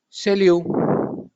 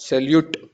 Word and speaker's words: salut: Salut. And not salute.